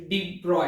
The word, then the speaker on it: de Broglie: इस लेक्चर में हम लोग डी ब्रोगली हाइपोथेसिस के बारे में बात करेंगे। एक्चुअली डी ब्रॉय है ना, उसका प्रोनाउंसिएशन थोड़ा अलग है, हम तो हमारे हिसाब से प्रोनाउंस करेंगे उसे, है ना, डी ब्रोगलीज हाइपोथेसिस।